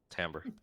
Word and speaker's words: timbre: You have a lovely deep Timbre. timbre. Okay, I've never knew how to pronounce that word.